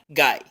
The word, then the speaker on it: guy: Y la palabra guy, G como del español y diptongo I, guy.